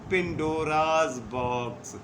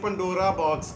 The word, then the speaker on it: پنڈوراز باکس: تو ناظرین، اس ڈبے کو نام دیا گیا پنڈوراز باکس. آج بھی ہم سنتے ہیں. آج اس کا تھوڑا تلفظ ضرور بگڑا ہوا ہے، مطلب اسے پنڈورا باکس کہتے ہیں پاکستان میں، اردو میں، اور اس کا مطلب